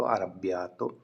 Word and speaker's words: arrabbiato: Verb past में तो arrabbiato, इस तरीके से आप इस वर्ब को प्रोनाउंस कर सकते हो।